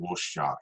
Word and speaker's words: Rorschach: And I think with Alan Moore's Watchmen, in terms of looking at that through an emotional lens, you've got characters like Rorschach, that's how you pronounce his name, who is just like emotion.